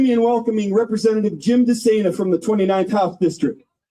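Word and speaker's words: DeSana: I asked Representative uh Jim Dena how to pronounce his name. He said, "Just think insane for running for public office."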